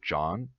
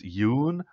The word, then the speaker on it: Jon: be John but I I don't call myself John that's not the Norwegian way of pronouncing it and so she listened to me pronounce Yoon you wanna dick and she decided that okay it's Yoon like moon so thanks to mrs.